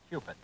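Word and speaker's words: Cupit: He says if you want to remember how to say it properly, just remember Q-stick, like in pool. It's Cupid.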